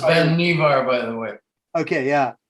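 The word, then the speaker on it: Vannevar: this is um the life magazine um article by vanderbar bush that it's pronounced ben nevar by the way okay yeah and i think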